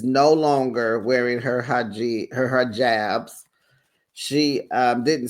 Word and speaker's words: hijab: It's a hijab.